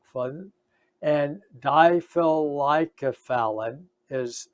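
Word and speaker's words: difelikefalin: a drug that's approved by the fda it's diffilicofun or diephol like fun and diphyllycophallin is how it's pronounced difficult like a phallid or difficult like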